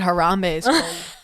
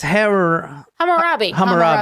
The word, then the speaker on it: Hammurabi: Careful, you gotta careful how we pronounce it because I almost said Harambe. Actually, when I said it, I was like, am I saying the gorilla's name? I'm glad you said it. No, it's Hammurabi.